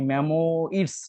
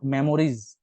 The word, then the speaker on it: memoirs: তো এটা দেখো মেমোরিজ না কিন্তু, MEMOIRS, মানে মেমোইডস টাইপের উচ্চারণ হয়, নট মেমোরিজ।